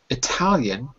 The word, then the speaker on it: Italian: Sorry to interrupt the reading, but just quickly, some people would read this word as I Italian. I don't say it that way, but in America, some people do because they separate the I from the rest of the word. Most people say Italian because they put the stressal at the like this.